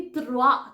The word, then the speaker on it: trois: तो यहाँ पे आर जो है प्रॉपरली त्रुआ त्रुआ र की आवाज नहीं आनी चाहिए, जैसे कि हम इंग्लिश में बोलते हैं रैट, ऐसे नहीं बोलना है, इसमें आएगा ही नहीं।